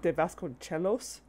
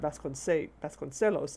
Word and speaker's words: Vasconcelos: And I was complaining about the CE being pronounced with a CH sound, which is wrong. It doesn't... In Spanish, it doesn't do that. That's an Italian thing. In Spanish, it should be C. It should just be the soft C. Vasconcelos. And then I remembered, wait, that's a double L. It should be Sellos.